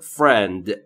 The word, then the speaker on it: friend: است ما فر من در مورد تلفظ فرند دقت بکنید بین اف و صدایی مشاهده نمی‌فرمایید پس ما هم مجاز نیستیم صدایی رو اضافه بکنیم. پس تلفظ درست میشه فرند.